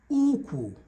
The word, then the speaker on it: Ukwu: You will also see here that number 18 and number 21 are having the same spelling but different pronunciations and different meanings. Number 18 says Ukwu, which is waist. Number 21 says Okwu, which is the leg.